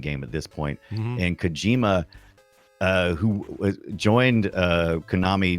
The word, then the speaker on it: Kojima: Kojima is how you say it. Kojima.